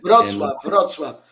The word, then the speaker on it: Wrocław: Greetings from Henrique in, I don't know how to pronounce that, Wrocław, Poland? Wrocław.